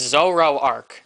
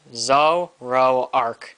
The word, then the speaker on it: Zoroark: black and white like has like people have pronounced them so weird like same thing with it's zoro arc zo row arc it's not that hard like i've heard so